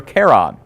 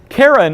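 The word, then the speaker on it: Charon: moon and that moon was named was named sharon or sometimes you will hear care on it is the naming is rather interesting and the pronunciation is something that we debate because his wife was Sharon karen is the proper pronunciation of the mythological figure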